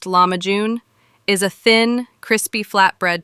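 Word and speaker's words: lahmacun: Turkish pizza commonly known as lamajun, pronounced lamajun, is a thin, crispy flatbread topped with a flavorful mixture of minced meat and finely diced vegetables.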